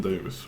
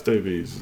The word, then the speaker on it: Davies: nice but he proba is it pronounced Davis Ben Davis we'll spend the next half an hour talking about this now Ben Davis no it's Davies it's spelled Davies anyway Valencia Walker so